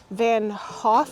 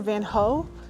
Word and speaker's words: Van Gogh: I think it's pronounced Van Gogh here but I used to have a Dutch co-worker and I believe that she said that the actual pronunciation was like van Hoff or van hoe so I guess I